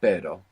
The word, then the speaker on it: pero: pronounce this Double R so the word for but in Spanish is pero pero pero p-e-r-o and the word for dog is perro p-e-r-o pero so that's the difference you have normal and